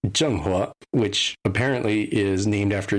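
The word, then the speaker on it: Zheng He: much of a spoiler there is a USS Jen which was how um one character pronounced the name of the ship and I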